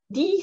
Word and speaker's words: de: Die, dritte Person, Plural, sie, ist meistens das einzige Wort, was diese Aussprache hat. Also ein E wird nicht normalerweise wie ein I gesprochen, das ist nur bei dem Wort so.